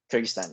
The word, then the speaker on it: Kyrgyzstan: Kyrgyzstan, yeah, that's right.